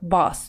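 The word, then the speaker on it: boss: языке напоминаю все таки босс произносится как бас то есть звук ближе к a daevite more money has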